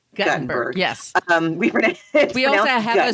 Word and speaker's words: Guttenberg: Not Gutenberg. Guttenberg.